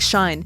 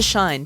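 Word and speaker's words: 死ね: it is ironic that the English reading of the word sounds like shine which is a positive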